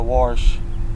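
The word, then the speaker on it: warsh: Not a wash. Wash. How do you spell that? W-A-R-S-H? Yeah. Wash. The R's not silent. No, you got to pronounce it.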